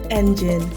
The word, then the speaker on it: Engin: Number 2, Engine. This is spelled ENGIN.